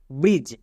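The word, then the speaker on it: bridge: টি জেট বা jet next ব্রিজ এবার এখানে দেখো শব্দের শেষে বর্গীয় জে এক্ষুনি বললাম শেষে বর্গীয় জ থাকলে তার জন্য ডি জি ই হই তাহলে বি আর আই ডি জি ই ব্রিজ এখানে ডি এর পরে জি আছে তাই ডি সাইলেন্ট এবার আমরা দেখে নেব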